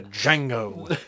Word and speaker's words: Django: To Django. The D is silent.